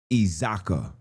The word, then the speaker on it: iZakhi: It says, "The name Isaac is Isaac, excuse me, in Easy closer is typically translated as iZakhi, pronounced iZaka, closely mirroring the biblical origin while being adapted to being adapted to isiXhosa phonics breakdown.